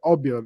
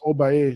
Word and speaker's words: Obeah: Well, today first thing off when it comes to the word obia that that's a misprononunciation by the Europeans. They couldn't pronounce oba, so they pronounced it obia.